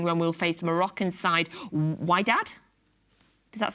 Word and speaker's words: Wydad: 18th of June, when we'll face Moroccan side Wydad. Does that sound right? Wydad? AC? Well, I can't see it. Yeah, how do you spell it? Yeah. W-Y-D-A-D.